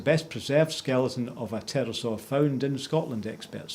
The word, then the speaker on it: pterosaur: reptile known as the pterosaur that's with the silent p was found on the